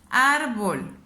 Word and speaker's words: árbol: abajo árbol la separó y digo ar bolt donde suena más mi voz donde la elevó más árbol ya me di cuenta que la elevó más en esta sílaba que es a la última sílaba es vol penúltima sílaba es ar me doy cuenta que